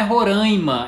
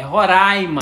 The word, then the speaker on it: Roraima: o nome desse estado não é Roraima é Roraima vocês vão ter que